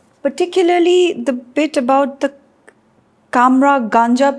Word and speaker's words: Cummeragunja: The whole movie Ablaze was very interesting, particularly the bit about the Kamra Ganja people. Am I pronouncing it correct? Yes, that's correct.